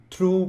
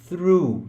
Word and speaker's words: through: Não é o som de F, tem gente que fala through, tem gente que fala true com T, é through, tá?